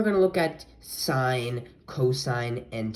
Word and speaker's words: cosine: then for cosine you might read it as cos but it's actually it is actually pronounced as cosine cosine like this and then tangent you would